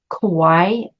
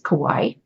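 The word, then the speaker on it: Kuai: trigrams the iching names this hexagram Kawai I believe that's how it's said it's KU AI I'm going to say it's Kawai and the description here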